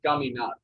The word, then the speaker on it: caminar: If it's in a consonant and it's not an N or an S, then it's the last syllable.